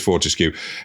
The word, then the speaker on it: Fortescue: That isn't pronounced how it's written, but it is. We're safe. It is Fortescue, who was the keeper of the royal wardrobe, which was a job role.